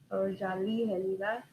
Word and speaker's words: Otsaliheliga: This is how you pronounce it, Otsaliheliga.